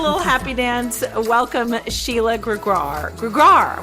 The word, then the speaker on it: Gregoire: Welcome, Sheila Gregoire. Gregoire. Why can't I say it right? You're just not, you need to do that French Canadian thing. Gregoire.